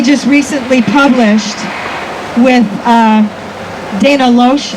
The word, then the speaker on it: Loesch: And the video that they just recently published with Dana Loesch, I think that's how you pronounce her name, is Loesch? I think it's Loesch. Loesch, whatever.